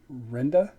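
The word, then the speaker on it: Rinda: Her actual pronunciation of her word would be Renda with an I.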